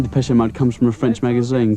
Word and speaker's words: Depeche Mode: Depeche Mode. And we just decided we liked the sound of that name. And we chopped off the accent and we just kept the pronunciation.